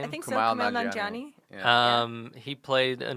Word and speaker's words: Kumail Nanjiani: Is that how you pronounce his name? I think so. Kumail Kumail Nanjiani.